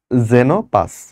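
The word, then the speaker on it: Xenopus: হচ্ছে জেনোপাস, এটা কিন্তু এক্স যদি শুরুতে থাকে তারপর যদি ভাওয়েল থাকে উচ্চারণটা হবে জে এর মতো। ওকে, তাহলে এটার নাম কি বলো? জেনোপাস।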